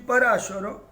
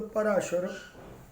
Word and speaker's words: Parashara: The fourth book, the author is Maharshi Parashara. Maharshi Parashara. Some people pronounce as Parashar, but the real pronunciation is a Parashara.